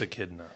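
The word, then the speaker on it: echidna: I think I think it's Akidna. Akidna. There you go. That's what it is. Akidna. I knew I was saying it wrong.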